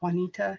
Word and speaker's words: Juanita: my original name is Juanita it's jua and ITA and my name has